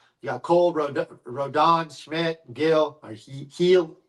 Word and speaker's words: Gil: You got Cole, Rodon, Schmidt, Gill, or Heel. How do you pronounce Heel? Heel.